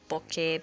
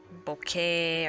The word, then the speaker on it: bokeh: And I'm not even sure I'm pronouncing it correctly, but I found out it was a Japanese word and they just altered the spelling a bit, so that's probably how the Japanese would pronounce it. But I'm sure the Western accepted way of pronunciation is a little different, like Bokeh or Bokeh or something like that.